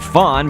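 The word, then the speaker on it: faun: Dot was the white of his eyes and his ear, and then we'll type fawn, but it's spelled F-A-U-N, not like a deer fawn or anything.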